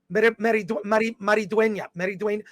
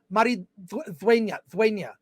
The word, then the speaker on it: Maridueña: Maridueña. I took 2 years of Spanish in college. I can at least pronounce Xolo Maridueña. I think Maridueña. The D is pronounced like a TH sometimes there.